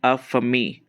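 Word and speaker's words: en famille: ठीक है, सो एन फेमिल क्या हो जाएगा, इसे प्रोनाउंस हम करेंगे अ फमी, ओके, इन फ्रेंच।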